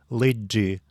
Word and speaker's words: лыджи: Отбрасываем суффикс инфинитива «ны» и получаем долгую основу «лыджи». Теперь используем эту основу и ставим ударение на первый слог «лыджи».